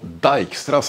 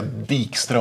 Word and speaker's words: Dijkstra: vi gå in på dijkstras algoritm man får säga dikra om man vill men det är från Holland så att det ska uttalas dijkstra ungefär som nimen heter